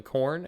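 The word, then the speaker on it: Khorne: Google it why is corn called corn it's spelled k h o r n e just so you know why is corn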